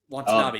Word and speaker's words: Watanabe: Ken Watanabe, or is that how you say it? Watanabe? Yeah, Watanabe.